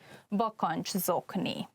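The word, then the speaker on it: bakancszokni: So you have 3 consonants at one place, and when you pronounce it, it's probably better to divide the word in 2 parts, like bakancs and zokni. Try to say it matching all together. Bakanczokni, socks for boots.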